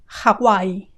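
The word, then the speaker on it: Hawái: hear how that sounds Hawai ha ha with a very strong initial Hawai and the W has a go sound goo haai haai we find that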